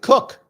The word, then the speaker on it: Coke: So, pronounced Coke. Oh, yes, Coke, of course, yes. Oh, he pronounced it Cook.